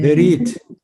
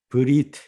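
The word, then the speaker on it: ברית: 베리트 베리트. 베리트 이렇게 네. 우리말로 베리트 이렇게 음역할 수도 있고요. 브리트 이렇게 음역할 수도 있습니다. 실제 요거는 발음이 되는 에입니다. 아주 짧은 에.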